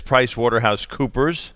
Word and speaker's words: PricewaterhouseCoopers: All right, Brian Ness is with us, and it's PricewaterhouseCoopers. That's the proper pronunciation.